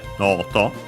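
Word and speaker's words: ノート: But yeah, here noto on its own, accent on the no. So noto.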